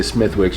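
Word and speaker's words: Smithwick's: And then now you gave me the one that I would say Smithwick. You said it's pronounced differently?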